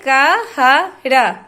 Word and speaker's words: कहर: टहल कहर इसको बहुत सारे लोग बोलते हैं कहर लेकिन इसको लिख लिखते हैं क ह र कहर बिना मात्रा के ही